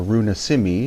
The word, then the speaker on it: Runa Simi: the Inca quetual word or Runa Simi is the proper pronunciation of the Lang or